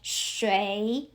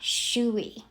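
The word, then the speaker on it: 水: But because I see u i as u e i, so I know you pronounce as shway not shwee.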